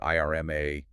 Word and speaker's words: IRMAA: Worried about IRMA. You know those Medicare search charges. Pronounced Irma, right?